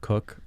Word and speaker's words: Coke: Lord Cook, one of our favorite Oh, yeah. originalists. Whose name is spelled Coke, by the way. If you want to be cool, you call him Cook.